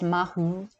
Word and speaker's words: Matha: The first, slightly misspelled, should be Matha or Mathu, pronounced Mahu, meaning the good.